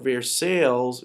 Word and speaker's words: Versailles: to pay reparations and even though it's spelled vr versailles vrsa ali is it's actually versaille you see the picture